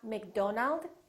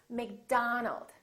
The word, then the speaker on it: McDonald: Make sure that you don't say O. It's not Robert, it's Robert. It's not McDonald, it's McDonald. All right, let's practice.